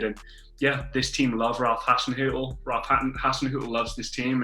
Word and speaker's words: Hasenhüttl: Ralph Hasenhüttl. Ralph Hasenhüttl.